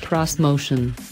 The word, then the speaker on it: Xmotion: six passenger three row Nissan's motion pronounced cross motion concept fuses Japanese culture